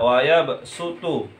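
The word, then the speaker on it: ويبسط: dengan huruf Sin biasa kalau Shad kan wayabsutu itu Shad tapi kalau yang di sini ada tanda sinnya jadi harus dibacanya wayabsutu biasa aja wayabsutu tidak boleh dibaca SH ya langsung saya bacakanallahuai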